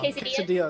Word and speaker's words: quesadilla: Quesada. Armadillos. Quesada bar. Quesadilla.